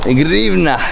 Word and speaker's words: гривня: Grivna.